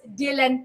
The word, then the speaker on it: DLN: So ang spelling po niya ay DLN pero pronounced as Dylan po siya.